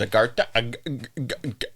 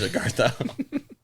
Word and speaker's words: Agartha: Agartha. Okay. There's multiple different pronunciations. There's Agartha. That's a tough one, but then there's Agartha.